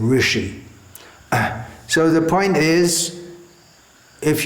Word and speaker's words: rishi: Rushi, they'll say, for instance, instead of rishi.